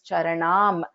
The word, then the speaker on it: charanam: So in this case, I took a pause after this charanam. So I pronounced this as charanam and then I continued with dhyayet.